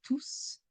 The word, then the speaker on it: tous: En fait, nous ne prononçons pas le S quand tout est suivi d'un nom.